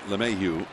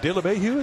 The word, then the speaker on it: LeMahieu: DJ LeMahieu. I added an extra syllable to his. I like it. De LeMahieu, that was good.